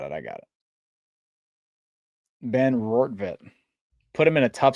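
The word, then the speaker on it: Rortvedt: Ben Roorvet put him in a tough spot there at the end of the game to produce with a chance to tie the game.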